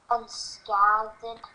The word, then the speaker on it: unscathed: So this A is making a long A sound, which nothing in the word is making it say it. But once you get a vocabulary, you'll be able to make that jump and go unscathed.